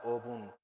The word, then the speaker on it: 분: Y aquí como O no tiene una consonante final que haga fuerza, solo suena obun.